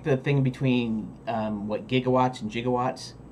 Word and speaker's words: gigawatts: it's just an acronym but we hear 1.21 jigowatts what do you think of right you think